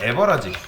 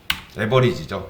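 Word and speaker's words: average: 평균은 에버라지 발음이 안 되는데 에버리지죠.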